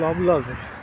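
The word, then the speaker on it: Loblaws: এটা হচ্ছে লভলজ, লভল বলে, লাস্টের এসটা কি উচ্চারণ হয় না।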